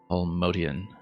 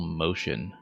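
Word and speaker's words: Motian: But over the decades, so many people pronounced it Paul Motion, uh, M O T I A N, because it looked so much like the word motion, M O T I O N, that eventually just kind of went with it.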